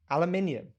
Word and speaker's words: aluminium: believe it's it's true aluminium it's got an eye in it it's not like we're just pronouncing it wrong but spelling it the same yeah it's just